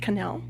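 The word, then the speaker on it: Knell: your last name yes my last name is spelled k-n-e-l-l and it's pronounced canel but i'll answer to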